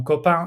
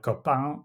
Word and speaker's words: copain: If you were to, say, pronounce the N at the end of words like copain, so you pronounce it like copain instead, that's a mispronunciation, so you could be penalized for that, for instance, as well.